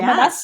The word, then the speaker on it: Womaness: So can you tell us sort of the backstory of the Womaness brand? And am I saying it right? Is it Yes, Womaness?